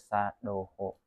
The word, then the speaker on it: sadho: sadho sho Hm sho tulis tulisannya sadho cuman pengucapannya itu sho Oh gitu Mad Doho